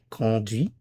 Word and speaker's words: conduit: The pronunciation is conduis, just like the first two, but the spelling is different. The spelling is with a t instead of an s. So, il conduit.